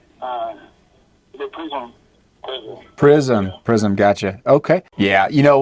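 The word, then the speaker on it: Prizm: How you pronounce that? Is it Prism, gotcha.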